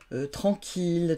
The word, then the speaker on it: tranquille: Et puis les mots de la famille de ville comme village, villageois, mille, millions, milliards, tranquille, tranquillité, etc. Donc ces mots-là se prononcent il et non pas i.